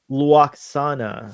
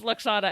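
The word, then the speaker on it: Lwaxana: Because I So, say sh- Luoxana. so she was the only one who really Luoxana. pronounced it with that W sound. Ah, So everyone else just Luoxana. says Luxana, and she went Luxana. Loaxana.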